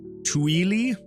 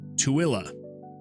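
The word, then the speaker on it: Tooele: How would you assume that this would be pronounced? Tueli? It's pronounced Tuilla.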